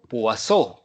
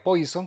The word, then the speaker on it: Poisson: etapa de su vida de ahí que pronunciamos cómo pasó que en francés pues es un apellido pero su significado es pescado si fuera inglés sería poison que sí significa veneno bien pero en